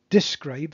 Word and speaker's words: describe: business all right so describe is pronouned di describe okay but it's spelled with an e in business the 's